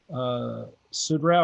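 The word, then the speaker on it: Suderow: And at the time, as Petersburg was being finished up, I was in contact with Bryce Sudrau. Am I pronouncing his last name right?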